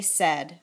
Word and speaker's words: said: want to do that said looks a lot like these words and it seems like it should rhyme with paid and braid and a long time ago I think they used to say s instead of said I say a funny joke but now we say said instead of say so